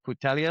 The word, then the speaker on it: Putellas: a little bit older, and you're like Alexia Putellas. Is that how you pronounce she's her 32. name? Yep. Yeah, Putellas, 32.